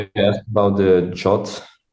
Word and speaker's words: JWT: Now this abbreviates to JWT the spec of JWT actually says that you need to pronounce it jot.